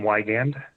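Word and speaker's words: Wiegand: proposed settlement thank you absolutely this is wygand it's w-i-e-g-a-n-d i'm the regional general manager of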